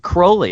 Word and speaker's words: Crowley: now you pronounce it Crowley as that is that the actual pronunciation of his name yeah cuz it rhymes with unholy oh well tell us